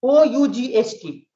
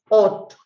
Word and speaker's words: ought: Ought, O-U-G-H-T. It is pronounced ought, ought, ought.